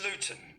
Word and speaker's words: Luton: We don't pronounce our T's.